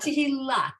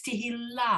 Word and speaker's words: Tehillah: Except it's not Tehillat, it's Tehillah.